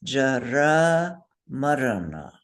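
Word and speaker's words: jarāmaraṇa: to say, but it's jara marana. So say with me. Jara Marana. Jara marana. Marana. So those R's are rolled because they're consonants.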